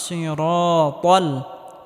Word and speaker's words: الصراط: ইহদিনাস সিরাতাল, ত মোটা করে উচ্চারণ করতে হবে, তাল হবে না, সিরাতাল হবে।